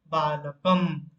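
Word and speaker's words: बालकं: और एक एग्जांपल देख लेते हैं, बालकम। क के ऊपर यहाँ पर अनुस्वार है, तो वहां पर जब हम उसको उच्चारण करेंगे तो म उच्चारण करेंगे, इसलिए बालकम।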